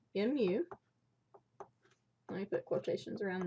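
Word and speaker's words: μ: be the Greek letter me so that is pronounced mu let me put quotations around this up here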